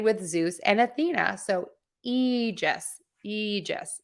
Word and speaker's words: Aegis: that is associated with Zeus and Athena so e just Aegis foreign no that's not a mistake we can